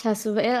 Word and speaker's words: Shasu: Is it Shaisu? Yeah, it's Shasu. It's whatever you prefer, to be honest, because we're both Polish, right? So it's pronounced different for us than for the rest of Ah, the world. So just feel free to do whatever suits you better.